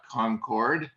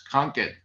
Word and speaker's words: Concord: that you said in terms of your okay pronunciation obviously not from this particular area otherwise you would know it's not concord although most that's how you say that word it's conquered well right outside of boston boston and i